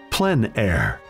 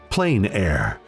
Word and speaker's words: plein air: outdoors the french pronounce it plein air others say plain air no matter how you